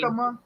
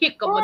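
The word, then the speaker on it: jícama: That does not say jicama. That say I know. I know. so the J turns into an H automatically.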